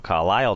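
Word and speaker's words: Carlile: Jack Aldous, Harry Aldous, Keel Carlilly as well. Carlilly. I think we pronounce it Keel Carlisle, don't we? Well, it's not spelt like Carlisle, though, is it? No, it's not. But it's Keel Carlisle, probably most famous for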